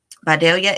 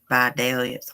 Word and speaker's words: Vidalia: my favorite and I think I tell you pronounce that place in Georgia at Vidalia Vidalia is where the sweet onions come from thank